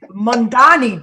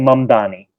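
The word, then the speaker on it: Mamdani: you so much for having me Zoran Kwame mangani did I get that one right almost almost how do we pronounce it so it's Ron Kwame mom Donny man Donny okay okay okay so Ron you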